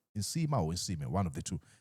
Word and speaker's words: Nsiima: about the arrest of Isima Clive I think I've been mispronouncing the name is inima is one of the